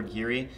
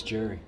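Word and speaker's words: Geri: And then we have the 3 Jerry or Geary, depending how you want to pronounce it. It's Jerry. Jerry?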